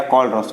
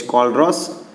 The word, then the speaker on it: Kohlrausch: कैप एम नॉट, ये क्या आएगा, कोलरॉस। उसका स्पेलिंग क्या आता है, KOHLRAUSCH, कोलरॉस लॉ बोलते हैं उसको, हम क्या बोलते हैं, कोलरॉस लॉ बोलते हैं, ठीक है।